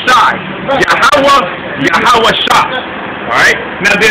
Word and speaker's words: Yahweh: Yahweh, which is Yahweh. The last H is silent.